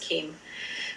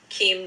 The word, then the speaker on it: Cheim: Beginning in December 1944, a Dutch Jew, Rudolf Keim, I believe it is pronounced, it's Cheim, I believe it's pronounced Keim, was assigned to work in a labor service office.